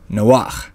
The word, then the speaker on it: Noach: or paresha as it's called in Hebrew called Noah which is the original pronunciation for Noah's name let's begin in Genesis